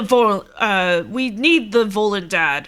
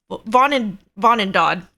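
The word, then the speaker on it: Vonindod: We need the Volendad. I think that's what it's called. Vonendad. There we go. You know, pronunciations.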